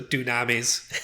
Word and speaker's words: dunamis: Because like it's spelled like tsunami, but with a D instead of a TS. Okay. So dunamis.